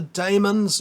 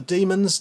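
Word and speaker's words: Dæmons: terror of the autons the demons or the demons depending on how you like to pronounce that and then we've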